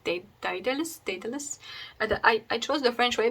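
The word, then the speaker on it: Dédale: So it's called Dedale, which is the French way of saying Dedale.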